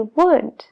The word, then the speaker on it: would: W en answer answer la l en should should lo mismo con could y would esas tres palabras son